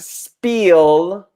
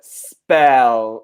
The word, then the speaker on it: spell: It's not spiel, but spell. So 2 L's, not 2 E's.